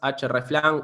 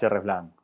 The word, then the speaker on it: hreflang: Todo este problema se resuelve con las etiquetas hreflang o hreflang, es difícil de pronunciar, es como la herramienta href. Sí, vamos a decirlo en español, hreflang.